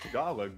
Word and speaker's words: Tagalog: You pronounce it's Tagalog. First of all, we're not tagging along for this language. It's Tagalog. Got it.